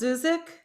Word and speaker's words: Zuzik: Is it pronounced Zuzik? Yeah, it's like music with a Z.